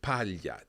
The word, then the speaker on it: paglia: So we've got paglia, teglia, maglie, coniglio, ciglia. Each time we're hearing that same y sound in there.